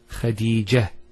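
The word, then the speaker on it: خديجة: I actually pronounced the ta marbuta as a ha. Medina, Khadija. Now if I stop on the ta marbuta, it's actually pronounced as a ha in both cases.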